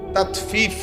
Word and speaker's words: তাতফিফ: তাফিফ শব্দের অর্থ হল তাতফিফ বাংলা শব্দটা বুঝছিনি উচ্চারণটা ত আকার তা তত ফ দীর্ঘিকার ফি ফিফ এই তাতফি এই হল শব্দটা। অর্থ হল প্রথম অর্থ হলো ওজনে কম দেওয়া।